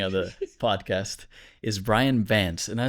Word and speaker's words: Vance: would probably get that better because they're like, Rance? Dance? I'm like, Vance.